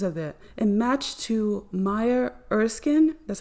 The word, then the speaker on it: Maya Erskine: And matched to Maya Erskine, that's how you say it, with 49 in the reduction cipher directly.